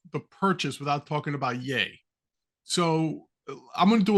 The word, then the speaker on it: Ye: and let us talk how do you say his name yay yay yay day as in Kanye West okay so Mr